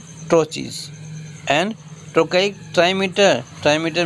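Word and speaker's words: trochee: A metrical food consisting of 2 syllables, the first is stressed and second is unstressed is called ट्रोची।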